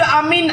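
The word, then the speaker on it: آمين: Na sabah te amin aman. Nabi Ibrahim pernah berdoa rabbij'al hza baladan amina. Amin. Ya Allah jadikan negeri ini negeri yang a aman. Sabah te amin. A panjang min panjang.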